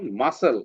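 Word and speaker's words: muscle: যেমন মাসেল এইযে এস এর পরে সি আছে। ঠিক আছে? এরপরে আমরা পড়ছি কি সাইলেন্ট জি সাইলেন্ট জি পড়ছি কি হইছে জি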